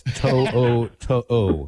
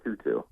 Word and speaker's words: To'o: That's To'o, correct? That was good. That was much better than Tutu.